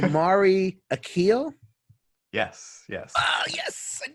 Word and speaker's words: Omari Akil: right now because i don't care it's like amari akeel yes yes oh yes i did it